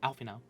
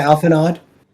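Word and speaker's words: Alphinaud: I always see his name and then I doubt that I remember how to pronounce it. Alfino. Yeah. See, I know that in my head, but every time I read it, I want to say, uh, um, You want to say Alphanod?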